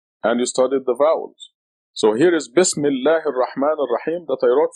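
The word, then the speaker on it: بسم الله: Together, the article Al becomes silent and becomes Bismillah.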